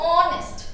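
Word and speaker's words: honest: नेस्ट ये होना चाहिए लेकिन ये नेस्ट नहीं बोलते हम लोग इसको क्या बोलते हैं हम लोग ऑनेस्ट क्या बोलते हैं नेस्ट तो ओ आ रहा है ना ओ से स्टार्ट हो रहा है ये साइलेंट नेस्ट बोल र इसलिए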